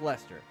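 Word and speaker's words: Leicester: time to talk about lester and yes it is pronounced lester i know the british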